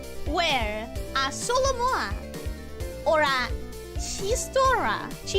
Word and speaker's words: chistorra: So the 2 options for the food were a solomoa or a chistorra. Sorry for saying it so English Anglo-Saxon the first time, but the X trips me so much.